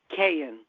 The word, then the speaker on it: Kayaian: pronounce your last name very simple it's just pronounce Kayne Kayne okay a lot of vowels can make a K in the sound I gotta tell you